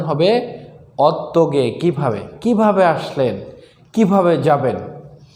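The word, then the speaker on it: 어떻게: অত্যগে হিউদ বাচ্চা থাকলে উচ্চারণ হবে না সঠিক উচ্চারণ হবে অত্যগে কিভাবে কিভাবে আসলেন কিভাবে যাবেন অত্যন মানে কোন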